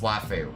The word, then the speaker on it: waifu: Waifu is pronounced waifu.